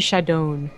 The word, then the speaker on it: Shadown: It's a barcode, but we all know him as the Blue Protoss, Shadown. Apparently from Nuit Blanche, I'm guessing, going off his Twitter. Yeah, it's actually Shadown.